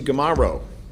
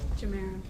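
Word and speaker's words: Gimaro: ADA Kelsey Gamaro. Is that Kelsey Jamaro? Jamaro. Sorry.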